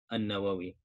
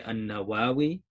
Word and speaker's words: al-Nawawi: bin Jumu'ah bin Hizam al-Nawawi. And there are different ways to pronounce it. You can say al-Nawawi or al-Nawawi. Both are fine.